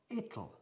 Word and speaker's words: it'll: Y decimos it'll, ¿vale? Aquí la pronunciación es muy importante y difícil, a primeras vistas, para los españoles. Pero no lo es, porque ya conocéis la palabra little, que significa small, pequeñito, ¿eh?